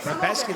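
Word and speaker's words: Rębecki: And it's crazy to say that his name is pronounced Rebecki. Where's the S? But it clearly says Rebecca, but it's soft C. Rebecki, you know? Soft C, that's Europe. Well, where's the Rebecki? Where's that come from? Soft C? The soft C. C can make an S sound, Michael.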